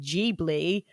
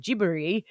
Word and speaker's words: Ghibli: dagger and i said ghibli as ghibli but it's technically an italian word that's pronounced jeebly but the japanese call it gibberi um and then google